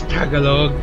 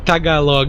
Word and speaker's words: Tagalog: It's she's Tagalog or kay Tagalog.